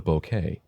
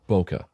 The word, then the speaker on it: bokeh: The visual character of the area outside the depth of field, and thus out of focus, is called the bokeh, or bokeh. Both pronunciations are used.